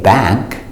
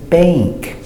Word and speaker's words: bank: the long a and we're going to use the long aid before n K and before ng so we don't say back we say Bank and the sound a